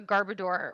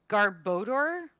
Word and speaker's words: Garbodor: love to find a garbador which i guess is pronounced garbodor like odor but i'm just going